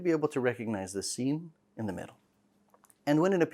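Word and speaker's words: شين: Also, the Sheen should not be pronounced like a ch sound, ch. It should be a sh, Sheen, sh sound.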